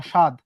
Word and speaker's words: স্বাদ: দেখো উচ্চারণটা হবে কি তালব্যস্বয় আকার দ, স্বাদ। এই যে এর মধ্যে কিন্তু কোনো ব আসে নাই।